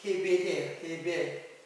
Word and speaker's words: 헤벨: 아벨은 히브리 발음으로는 헤벨이에요. 헤벨인데 이것은 무슨 뜻이냐면은 허무, 그리고 헛됨, 그런 뜻이에요.